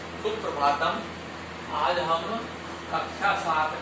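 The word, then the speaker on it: सुप्रभातम्: ठीक है, जैसे सुप्रभातम, सुप्रभातम, कई बच्चे जो है इसको सुप्रभातम बोलते हैं, सुप्रभातम बोलते हैं, ये शुद्ध शब्द है सुप्रभातम।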